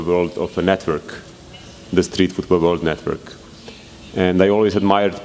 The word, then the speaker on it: Streetfootballworld: It's one of the most difficult names to pronounce, so in Brazil we just call it Strici. In the other parts of the world they always write it differently, but we are used to it.